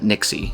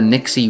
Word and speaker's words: NYXI: So, I'd gotten an email from Nixie. At least that's how I pronounce it. I I asked quite a few friends how would they pronounce NYXi, and everyone says Nixie. So, that's how I'm going to say it.